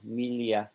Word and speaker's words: milieu: Like milieu is a French word, so that's kind of hard to say, milieu.